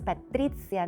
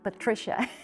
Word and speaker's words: Patrizia: Now, I always smile because you might have noticed that my name is spelled with a Z and not with a C. It's Patrizia, not Patricia, and it's not Patrizia.